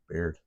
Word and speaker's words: Baird: Baird.